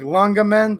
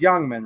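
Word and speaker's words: Ljungman: Looks like Lungaman, but I think it's technically pronounced Youngman, right?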